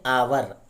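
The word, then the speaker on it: hour: शब्द दिए हुए हैं तो देखो अवर अवर मिस होता है घंटा लेकिन हा लगा है इसको अवर पढ़ने हैं और हा जो है साइलेंट राहत है यहां पर तो अवर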